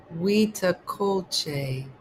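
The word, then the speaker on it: huitlacoche: Pronounced wea culte is a fungus that grows on corn kernels forming bulbous blue gray masses.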